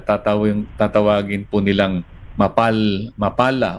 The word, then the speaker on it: MAPALLA: tawagin po nilang map mapala o mapala Depende po sa inyong pronunciation double l po kasi ano mapala Matatapos